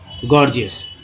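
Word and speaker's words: gorgeous: तो ये सब चीज़ याद रखिए, एक ही वर्ड में कभी कभी ग ज दोनों होता है, जैसे जी ओ आर, जी ई ओ यू एस, पहला जी ग, दूसरा जी ज, क्या उच्चारण होगा, गॉर्जियस।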